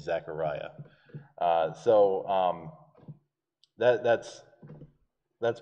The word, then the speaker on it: Zechariah: it is zacharias but the hebrew pronunciation of his name is zechariah so um that that's